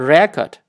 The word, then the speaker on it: record: And then a record, but you sometimes you record something, the second syllable to record something. But now for now, it is a record.